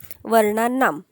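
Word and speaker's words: वर्णानाम्: का बर म्हटलो शेवटी कारण इथे आकारांत आहे बरोबर आकारांत आहे आणि याचा प्रोनन्सिएशन जास्त करून हलंत म असतो अर्धा म जो आहे ना हे बघा हा अर्धा म फक्त म आ नाही फक्त म लक्षात घ्या या मने त्याच प्रोनन्सिएशन केलं जातं म्हणून वर्णा ना आता आकारांत आहे म्हणून नाम आम अस एंडिंग करायचं आता इथे बघा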